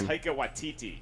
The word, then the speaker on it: Taika Waititi: You gotta know how to pronounce his For name. Taika Waititi.